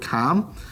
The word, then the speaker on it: calm: BZ say the word calm. You don't pronounce the L in that word.